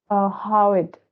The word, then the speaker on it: hyoid: is uh you know how it it's usually pronounced like this h y o i d it's how it bone okay and this